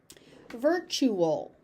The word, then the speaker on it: virtual: Via via a via virtual ver that tu becomes a ch sound.